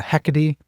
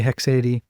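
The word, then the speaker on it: haecceity: Now I've heard some people say a hecade. I hate that pronunciation. I say hexad but whatever.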